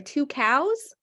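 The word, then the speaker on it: Tucows: that name I'm sorry two cows okay it's pronounced two cows and their logo for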